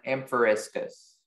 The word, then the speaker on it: amphoriscus: Is there any alternate pronunciations? There's just the one, amphoriscus.